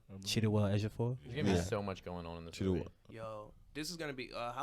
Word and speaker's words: Chiwetel Ejiofor: How do you pronounce his This is name? gonna be a always crazy Cheetah movie. Cheetah Ejiofor. Chiwetel Ejiofor.